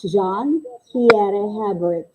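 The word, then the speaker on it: Jean-Pierre Hébert: We pronounce it as John Pierre Hebert.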